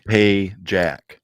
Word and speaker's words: Pagak: We're gonna stop right here because every night you say it wrong. It's Pagak. Payjack. Payjack, gosh darn it.